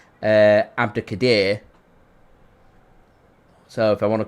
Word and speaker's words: Abdukodir: He's confirmed that his name's pronounced Abdukodir.